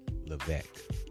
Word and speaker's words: Levesque: Levesque. Levesque. There is an S in there, and as Mr. Levesque explained to me, the S is silent.